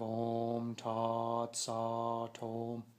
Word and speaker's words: Om Tat Sat Om: If you notice, I'm not pronouncing the T after Tat. It sounds like I'm saying Sa Tom. So it sounds like the T is part of the OM.